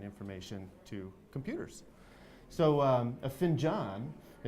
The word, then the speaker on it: Finjan: probably on NASDAQ and now I pronounced it Finn John because we have a little conversation prior to coming on camera and give us a